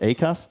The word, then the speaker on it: Acuff: Is it actually pronounced Acuff? That's it, yeah.